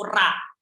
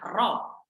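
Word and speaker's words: رَ: Jadi nggak ada dalam bahasa Arab itu ra, nggak ada. Adanya ro, bukan ra. Seperti itu ya. Ra nggak ada, ro adanya.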